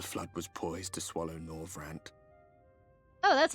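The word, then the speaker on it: Norvrandt: the first the flood was poised to swallow nor rant oh that's how you say it I will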